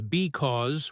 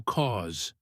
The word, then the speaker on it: because: In casual conversation, nobody says because with two perfectly clear syllables. It almost always gets reduced to cause.